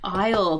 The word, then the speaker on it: isle: So both of these words are pronounced as isle.